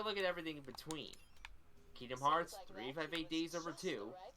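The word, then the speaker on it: Kingdom Hearts 358/2 Days: Kingdom Hearts 358 Days Over 2. And yes, that is how it's pronounced.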